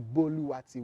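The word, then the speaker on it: Boluwatiwi: where i come from you have to put some musical notes on my name for these people to pronounce it very well so it has to be mimi mirimi you understand so buluwati we in the europa language are actually just three musical notes during me so whatever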